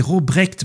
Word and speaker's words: Robrecht: Oui, mais c'est Robrecht. Moi, j'ai dit Robert, je crois. Ok, d'accord. Non, t'as dit Robrecht, mais le nom est Robrecht Eyvaert.